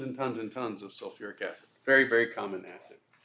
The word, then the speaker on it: sulfuric: sulfuric acid and again it's not sulc acid it's they add that extra syllable sulfuric acid so that's a